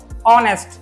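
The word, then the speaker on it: honest: Sound के according आएगा ऑनेस्ट तो इसमें क्या होता है एच क्या होता साइलेंट होता है। क्या होता है? साइलेंट होता है। एच साइलेंट ऑनेस्ट और मैंने बताया अ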